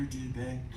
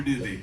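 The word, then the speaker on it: Dube: His name's spelled D-U-B-E. People come in all the time. They don't want to pronounce it wrong. I'm here to see Dr. Dubé. Got an appointment with Dr. Dubé. She's like, it's okay. It's Dr. Doobie.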